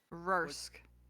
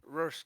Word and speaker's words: Rorsk: Oh my god, I can't pronounce that name. Rursk. Rorsk. Thank you.